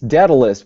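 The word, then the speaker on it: Dedalvs: that you can't pronounce it's dead list but it's spelled like it was written in old latin so d-e-d-a-l-v-s and then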